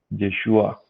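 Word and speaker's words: ישועה: Y me impactó que la forma como se pronuncia esa palabra es así, mire, Yeshua. Y Yeshua es, como sabemos nosotros, la manera como también se pronuncia el nombre de Jesús, ¿no? En hebreo.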